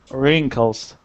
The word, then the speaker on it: wrinkles: with this word um The W is silent we say rink wrinkles try that again Michael wrinkles wrinkles there you go wrinkles